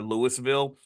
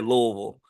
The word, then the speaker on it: Louisville: Like in Louisville, the joke is that you don't say Louisville or Louisville, you say Louisville. Like you got to kind of like blur the whole word together and kind of Louisville.